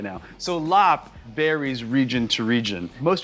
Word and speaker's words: larb: don't love the name larb in thai this would be pronounced a lop and you know it's